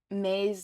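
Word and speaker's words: Mei: been trying to pronounce May's name right it is pronounced May somebody in the comments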